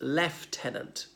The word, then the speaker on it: lieutenant: lieutenant this American director lieutenant in the United Kingdom is pronounced leftenant there's no F in it you're thinking what but